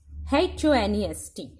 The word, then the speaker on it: honest: Here I am writing HONEST. इसको pronounce कैसे करते हैं?